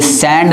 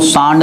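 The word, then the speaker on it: sand: उच्चारण ध्यान रखिएगा, ये सैंड लिखा है दोस्तों, सांड नहीं है, सैंड है।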